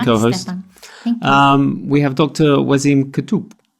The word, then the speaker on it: Waseem Kotoub: Ann is my co-host we have talked to was iam could - did I pronounce it right yes superb so with all